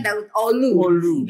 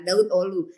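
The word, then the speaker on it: Davutoğlu: tokoloe akhirnya jadilah ini tulisannya davutoglu bacanya Naruto lu jangan dibaca ada Uno lu jadi mungkin disini Ahmad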